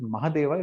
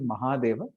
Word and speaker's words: Mahadeva: Some people might pronounce it Mahadeva. It's actually Mahadeva, the great Lord, the greatest of the Lords, you can say.